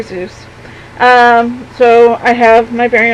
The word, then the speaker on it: Seuss: Seuss hat, which if you aren't aware, it's actually not Dr. Seuss as it's pronounced, it's Dr. Seuss. But everybody pronounces it Dr. Seuss.